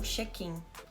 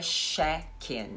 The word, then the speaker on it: check in: A propósito, a pronúncia também não é sheck in, tá? É tche, tche, tche... Os dentinhos... Não é um chiado, é uma pancadinha nos dentes. Check in.